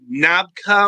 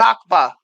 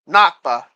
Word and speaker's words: Nakba: going to call the founding of Israel the navka or the navka or however you pronounce that nakba nakba yeah like they're not going to call it